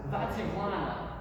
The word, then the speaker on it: Vativlana: Vativlana. Vativlana? Yeah. It's like Vativ and then Lana, like a person's name.